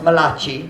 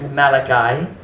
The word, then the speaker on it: Malachi: of the old testament it's not pronounced malachi it's pronounced malachi bring ye all the